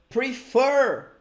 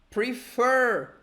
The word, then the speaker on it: prefer: Prefer. You see, it's like prefer. It's not prefer. It's like prefer. We have stress on the second syllable.